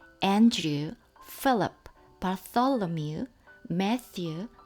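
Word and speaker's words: Bartholomew: 바솔로뮤, 이 발음이 어렵죠. 고맙다, thanks 할 때 그 무성음이고요.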